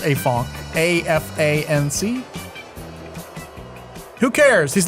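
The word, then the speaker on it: Afanc: I think it's pronounced Afonk.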